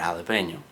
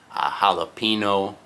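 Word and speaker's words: jalapeño: You guys are like, well, obviously you pronounce the ñ, that's the word, jalapeno. But here in the US, a lot of people who have no idea about other languages, they'll say jalapeno, okay?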